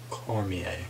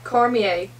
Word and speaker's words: Cormier: hate friends in there Cormier Cormier it's a French name so corny okay and